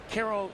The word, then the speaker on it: Cairo: Spelled like Cairo, Egypt, but pronounced Caro.